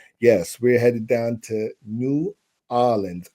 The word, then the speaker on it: New Orleans: Yes, we're headed down to New Orleans, or how the locals say, Nowlands.